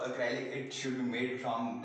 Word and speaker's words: acrylic: Sorry, it's pronounced as acrylic.